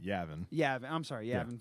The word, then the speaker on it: Yavin: They pronounce it Yavin.